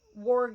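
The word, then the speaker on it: warg: orgs Gandalf understood it worg is spelled w-a-r-g by the way Gandalf understood it Bilbo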